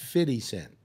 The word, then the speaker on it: 50 Cent: if you have to pay a dollar it's pronounced fitty cent any always or or just now always always